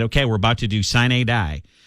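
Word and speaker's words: sine die: we're about to do sign a die and i think i'm pronouncing that right it's s-i-n-e and then capital d-i-e it's latin it's means means the end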